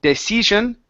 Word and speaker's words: decision: go okay up here instead of De decision okay de short eye decision decision okay good good